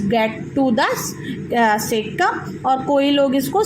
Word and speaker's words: cecum: takes place, and then it's get to the cecum, और कोई लोग इसको सीकम भी प्रोनाउंस करते हैं, जहाँ पे जो बैक्टीरिया है that acts on cellulose and digested completely.